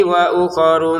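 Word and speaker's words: وَأُخَرُ: kitabi wa uku di sini pendek juga wa uk wa uk jangan dibaca wa uku mutasyab jangan tapi langsung saja pendek wa uk mutasyabihat synya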